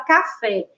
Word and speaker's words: café: Olhem só a palavra café. Ela tem duas sílabas e a sílaba tônica é a última, a sílaba fé.